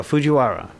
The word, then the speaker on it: Fujiwhara: Fujiwhara. Fujiwhara And I'm Effect. saying it like that because I know how they pronounce their R's.